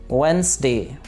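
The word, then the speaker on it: Wednesday: डी इसके अंदर silent है, वेडनेसडे।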